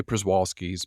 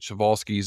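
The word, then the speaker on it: Przewalski: can go to the shal's horse some say pralis but shalis is is the proper polish pronunciation but if you just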